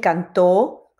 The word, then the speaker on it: cantó: tiempo en esa palabra si yo digo canto El canto y digo él cantó obviamente la palabra cantó que tiene acento y énfasis en la o final es más larga y por eso Como